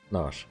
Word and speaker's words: Nash: Nash, not Nashi. I used to call it Nashi when my grasp of English and the more likely pronunciation was still a little wonky.